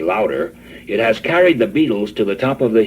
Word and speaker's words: Beatles: the be fan club The Beetles sound like insect life but it's spelled b e a t beat and these four boys